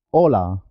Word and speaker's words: hola: La H no tiene sonido, es muda. Hotel, hola.